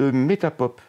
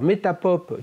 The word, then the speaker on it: Metapop: Je suis écoutable sur le site Metapop. Metapop, comme ça se prononce?